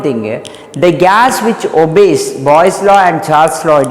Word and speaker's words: Boyle's: I wrote Boyle's law, it's actually Boyle's law. LE is silent, so we used to pronounce Boyle's law. So don't think that is boys law, girls law, it is different, understood?